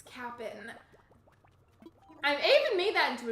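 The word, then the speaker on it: Kapp'n: animal crossing i would always call him the captain i didn't realize that that was not the right way to pronounce it and so i was streaming one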